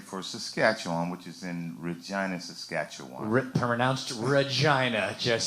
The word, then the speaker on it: Regina: Canada right played for Saskatchewan which is in Regina Saskatchewan Ripper announced Regina yes so everyone gets that correct that is how they pronounce it Regina oh yeah you do have to roll that